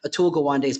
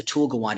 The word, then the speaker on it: Atul Gawande: If you've read Atul Gawande's book on checklists for surgery, it's just a thing that tends to level the playing field.